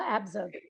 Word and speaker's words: Abzug: biography by Bella abub hopefully I said this right tell me how to say it abug is that correct Bella abzug perfect and Bella by ckins